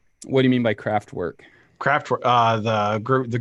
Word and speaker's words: Kraftwerk: were um craft work it's loosely craft work and I immediately started thinking about like DIY would make for woodworking and things like that yeah it says crack work and it's spelled KR aft wer K and they were like